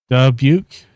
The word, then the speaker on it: Dubuque: Dubuque. Dubuque. Dubuque. Dubuque. Okay. I was pronouncing it all kinds of mess up yesterday.